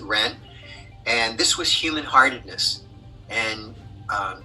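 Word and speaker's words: 仁: Sometimes it's Jen, sometimes it's Ren, but in any event, you pronounce it Ren.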